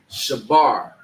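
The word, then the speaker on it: שבר: So in the Hebrew, in the Paleo, right, it is pronounced shabar.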